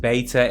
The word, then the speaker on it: beta: And of course that's pronounced beta if you're an American, I have been reading the comments.